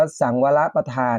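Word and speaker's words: สังวรปธาน: สังวร ประธาน นะ ครับ หรือ เรียก ว่า อ่าน ว่า สั่ง วาระ ประธาน นะ ครับ การ เพียร ระวัง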